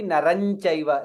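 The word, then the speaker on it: नरं चैव: It will be Naran Chaiva, like the way we saw in the previous shloka. Cha cha ja jha nya. Nya and cha.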